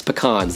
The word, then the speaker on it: pecans: peanuts almonds cashews brazil nuts and pecans yes pecans that is how you pronounce it with six grams of plant-based protein